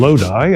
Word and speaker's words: Lodi: And if you ever find yourself in Lodi, and I actually pronounced that right this time, go to Trailers Plus and they will hook you up.